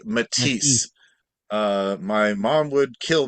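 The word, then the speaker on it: Matisse: and also real quick the pronunciation of those two um French impressionist artists is Paul saeson and Henry matis uh my mom would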